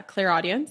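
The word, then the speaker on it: clairaudience: audience um audience yeah clear audience that's how you say it and clairvoyance is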